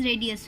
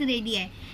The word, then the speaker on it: radii: We won't pronounce it edge रेडियस, we will say इट एज रेडियाई, ठीक है।